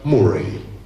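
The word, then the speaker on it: Moray: Che in Scozia la contea più grande si chiamava Morai, uguale come in Perù, però si pronuncia Murray.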